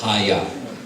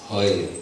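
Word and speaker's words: হয়: And devotees typically pronounce Haya. No. It's Hoy. Hoy. If the last A is pronounced at all, it'll be very light.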